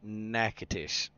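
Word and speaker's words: Nacogdoches: is we can take a job down in Nacadish. Okay. So, that's spelled Natosious, but it's actually pronounced Nacadish.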